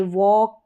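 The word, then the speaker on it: walk: तो ये जो एल आ रहा है ये साइलेंट रहता है। पढ़ा नहीं जाता। जैसे वॉक, काम और वुड एलडी में जैसे शुड, वुड, कुड इन सब में भी एल आता है।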